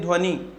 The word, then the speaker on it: ध्वनि: ध्वनि जब हम बोलेंगे तो बड़ी की मात्रा लग जाती है, जबकि छोटी हिंदी भाषा में छोटी ई या छोटा ऊ का जब हम उच्चारण करते हैं तो ये दोनों मात्रा हम अंदर की तरफ लेते हैं।